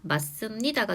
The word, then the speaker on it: 맞습니다: 자, 최종 표준 발음은 깊다, 맞습니다가 되는데요. 깊다는 앞의 예시와 마찬가지로 된소리 대기가 적용이 됐고 두 번째 맞습니다의 경우에는 또 다른 자음 동화인 비음화가 한 번 더 적용이 되었는데요.